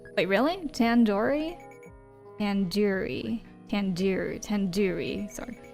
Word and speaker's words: tandoori: surely at least recognized tandoori chicken you're saying it wrong wait really Tandoori tanduri tandur tanduri sorry the do isn't like isn't like a door it's like DOD head do okay are you